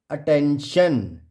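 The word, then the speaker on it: attention: Rule number 9 है, जब किसी वर्ड के लास्ट में क्या हो, टी एस के बाद, टी या एस के बाद आई ओ एन आए तो आई को अ से पढ़ते हैं। जैसे ATTEN अटेंशन, शन। देखो अटेन, ये TION, इसको हम शन पढ़ते हैं।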